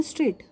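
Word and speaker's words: straight: जब मैंने स्ट्रेट word को प्रोनाउंस किया तो G और H की साउंड नहीं आई, मैंने बोला स्ट्रेट, तो G और H साइलेंट है, ठीक है।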